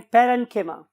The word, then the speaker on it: parenchyma: कोलेन्काइमा भी बोलते हैं, बट the true pronunciation is कोलेन्किमा एंड पेरेन्किमा।